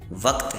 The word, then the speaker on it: وقت: وقت کا صحیح تلفظ وقت ہے۔ وقت کا صحیح تلفظ وقت ہے۔ پھر ایک اور چیز